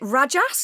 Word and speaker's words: Rajas: Sattva, is it Rajas? Is that how I pronounce it?